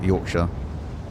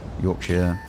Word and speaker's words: Yorkshire: But no one from the UK, I don't think, would actually pronounce it Shire. Like, because you would everywhere in the UK just ends in shire or sha, like Yorkshire, Yorkshire. Just be born as a natural yapper.